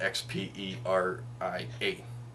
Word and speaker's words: Xperia: But it's spelled X-P-E-R-I-A.